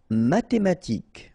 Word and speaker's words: mathématique: Mathématique, remember, H doesn't exist, so mathématique. Remember, Q-U-E at the end, K.